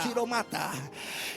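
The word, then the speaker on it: ὀχυρώματα: Fortaleza, palabra griega que se pronuncia ochiomata. Ochiromata. Parece que es japonés, pero es griega.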